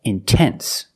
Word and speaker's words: intense: pronounce the T example intense I put the stress after the NT so I have to pronounce a t I cannot say in no it's intense or words like intensive